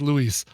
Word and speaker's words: Louis: then he says uh please pronounce the pronounce the S at the end of my first name it sounds a awful without it so it is not Lou it is Louis U my also does